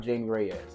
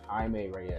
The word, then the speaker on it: Jaime Reyes: It's not Jamie Reyes. It's Jaime Reyes.